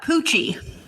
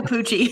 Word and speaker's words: Pucci: How about Pucci? No. Is that a dog? No. Emilio Pucci. It's definitely not. It's spelled like Gucci, but with a P.